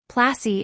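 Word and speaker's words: Plassey: Placi is an anglicized pronunciation of Palashi.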